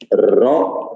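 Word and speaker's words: Roux: how to pronounce it it is raw not rocks and white it is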